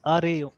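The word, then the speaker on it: array: अच्छा, नहीं in fact it इज अरे, अरे ही होता है, देखिए देखिए ना इसका प्रोनाउंसिएशन, देखिए यस, ब्रिटिश भी वही है और समथिंग अमेरिकन भी लाइक वही।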